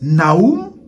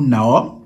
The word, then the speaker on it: Nahum: Capernaum, c'était, le prophète Nahum, ou Nahum, tout dépend des prononciations.